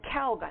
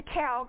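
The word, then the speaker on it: Keleg: little shanty on the Kelg, they called it, K-E-L-E-G. Does that sound right, Ilsa? E-G? Kelg? Anyway, that's how I pronounce it.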